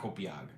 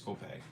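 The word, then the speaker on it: Copiague: It's not Copiag. It's Copeg. Okay.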